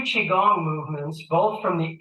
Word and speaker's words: Qigong: So again, we've done just 2 Qigong movements, both from the 8 pieces brocade Qigong set.